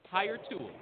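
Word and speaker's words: Hiretual: Higher Tool Gary. Higher Tool. Higher Tool. Spell it.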